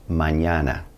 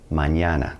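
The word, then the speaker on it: mañana: it's going to be pronounced like the n in the English word onion good example of this is Manana which means tomorrow Manana let's talk about the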